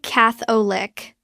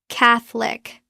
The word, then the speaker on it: Catholic: It looks like catholic. Three syllables. Natural pronunciation. Drop the middle. O. It becomes Catholic. Two syllables.